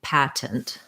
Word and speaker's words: patent: american native speakers do it is correct and okay to say patent so you can say path pat for syllable stress with a true t patent and then this e becomes again a schwa or an if it's a reduced sound so it would sound